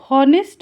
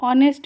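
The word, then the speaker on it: honest: है टू बी ऑनेस्ट इसे हम नेस्ट नहीं पढ़ते हैं इसे हम ऑनेस्ट पढ़ते हैं एच साइलेंट होता है सच कहूं तो टू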